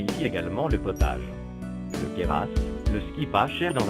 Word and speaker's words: Queyras: Le Queyras, si vous ne voulez pas passer pour un Marseillais, prononcez Queyras.